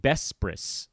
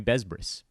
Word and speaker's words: Besbris: I really overpronounced the S's. Technically, I guess that's right. I am Bespris. They're soft S's. But I don't mind if you call me Besbris.